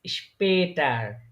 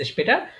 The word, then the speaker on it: später: তাহলে এর এটা কিন্তু, এটা শুধু যদি স্পেটার। আ হইতো তাহলে তখন উচ্চারণ হইতো স্পাটার, কিন্তু এটা উমলাউট হওয়ার স্পেটার। কারণে উচ্চারণটা কি স্পে তার, তার।